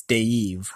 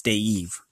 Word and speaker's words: Dave: I think it's Dave, not Dave. It's Dave.